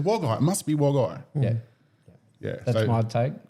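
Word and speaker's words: Wagait: calling it wagy right yeah how do you spell it it's like waget it it's it sounds like wagget but it's w a g a i t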